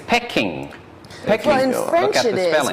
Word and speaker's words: Peking: i would say that peking is a cantonese pronunciation okay so it's not peaking basically it's pecking in french it is